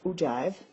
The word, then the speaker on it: ogive: First of all, you would want to know that it is pronounced ogive.